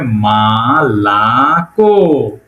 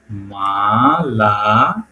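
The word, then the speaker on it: молоко: মালাক এমও ম এল কেও ক কিন্তু এটার উচ্চারণ হবে মালাক মালাক মালাক মানে কি মিলক ওকে চলে আসলাম উদাহরণে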